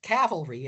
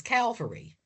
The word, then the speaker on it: cavalry: into the Civil War mispronounce the word cavalry as Calvary.